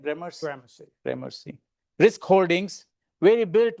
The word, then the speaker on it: Gramercy: I'm pronouncing correct, Gramercy? Gramercy.